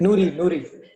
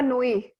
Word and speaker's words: Nooyi: And I don't, her name is, and I'm going to butcher the name. I want to say it's Noori. Thank you. Yes. Indra Nooyi.